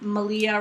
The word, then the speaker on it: Malia: tiny gnome kit from malia rhymes with maria podcast and they told